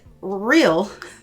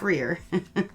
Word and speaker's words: Real Barrier: Next we have, it's the same brand, Real, not Rear. Say it right this time.